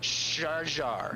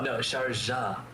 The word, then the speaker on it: Sharjah: Sharjar. Am I saying that right? No, Sharjah.